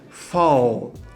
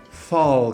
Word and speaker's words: fall: Outra palavra aqui, ó, fall, fall, que também é com L no final da sílaba, é muito comum o pessoal falar fall, fall, como se fosse um U, tá?